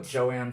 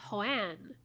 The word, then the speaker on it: Juan's: Oh, Joanne Fabrics? I believe it's pronounced Hoan.